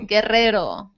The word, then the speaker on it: Guerrero: Guerrero. Roll your R's.